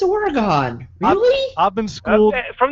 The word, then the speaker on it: Oregon: yes but there's no there's no e at the end so it's Oregon but thank you Brian